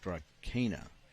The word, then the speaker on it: Drakaina: It's Drakaina.